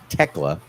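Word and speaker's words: Thekla: Jamie Hater versus Techla. Almost hate saying her name like that, but okay. The H is silent.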